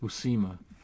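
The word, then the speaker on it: Buscema: out his name is pronounced Jen it is pronounced busima and uh I'll tell you about that in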